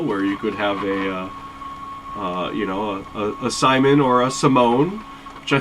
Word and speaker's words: Simon: So 3D printing professor, he also has, it's a smaller version of this, and it's called Simon. I pronounce it Simone, and I think that's one of those tomato things, but it's also kind